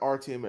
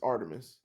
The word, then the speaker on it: Artemis: goingon to say yeah their name is Artemis it's not rtms it's Artemis we've been saying the